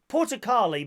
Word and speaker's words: Portokali: Number 18, what does the Greek word Portokali mean in English?